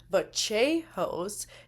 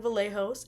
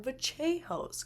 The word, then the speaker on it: Vallejos: So, that is a distinct feature where those double L's make a little bit of a different sound, so it's not Kevin Vallejos, it's Kevin Vachehos, cuz he is Argentine.